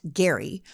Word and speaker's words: Gerry: from Massachusetts governor Elbridge Gary spelled Jerry but pronounced Gary whose administration passed a law in 1812 to